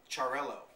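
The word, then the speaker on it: Xarel·lo: And that's really to make sure that in the Catalan language or dialect, you don't make the two L's like a Y sound, you actually pronounce each L.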